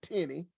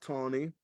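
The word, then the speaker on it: Taney: But in 1857, Chief Justice Tony, it looks like Tenny, I was told it's pronounced Tony.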